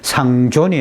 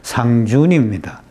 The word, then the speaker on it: 상준: 요게 존자인데, 높이를 존경한다 할 때 존자인데, 술잔을 말할 때는 발음을 준이라고 읽어야 돼요. 예, 그래서 이게 상존이 아니고 상준입니다.